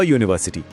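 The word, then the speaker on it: university: देखिए यूनिवर्सिटी शब्द शुरू तो यू से होता है पर उसकी आवाज य की है जो कि एक व्यंजन यानी कंसोनेंट साउंड है। इसीलिए अ यूनिवर्सिटी।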